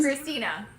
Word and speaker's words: Krystyna: And mom, I might have mispronounced your name, but let me make sure. Is it Christine? Christina.